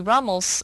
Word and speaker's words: Rummel: Rummel who did a comprehensive study of genocides across world history.